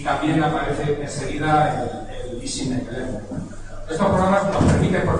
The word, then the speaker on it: EZNEC: por lo de EasyNet, EZ en inglés se lee como Easy. Entonces, casi todos hemos llamado a esto, muchos lo han llamado EZNet, que es una cosa muy difícil de pronunciar. Vamos a llamarle EasyNet, que es como intentar